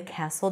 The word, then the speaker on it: castle: three times on the castle door Castle a castle no T the door swung open